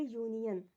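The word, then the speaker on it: union: अब देखिए ए यूनियन, अब ये यू वावेल होता है इंग्लिश में,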